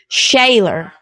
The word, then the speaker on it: Shealor: Shayaylor, right? Is how you pronounce it.